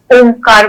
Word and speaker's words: ॐ: हो जाती ओम है दिखने में तो ओ है ठीक है लेकिन जब हम इसको स्वर के साथ उच्चारण करते तो उसमें अ उ म अ का उ के साथ संगम होता है तो ओ फिर म कई लोग डायरेक्ट भी